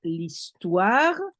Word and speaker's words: l'histoire: J'adore l'histoire. You link the L to the histoire because the H doesn't count, so you link the L to the E. L'histoire.